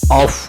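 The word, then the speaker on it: œuf: French में अंडे को ऑफ कहा जाता है।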